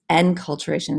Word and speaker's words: enculturation: It's enculturation is how it's pronounced, but I think of inculturation, keep it in the family.